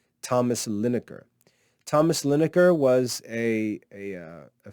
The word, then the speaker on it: Linacre: mention would be thomas lineker thomas lineker his name his last name is spelled l-i-n-a-c-r-e thomas lineker thomas lineker was a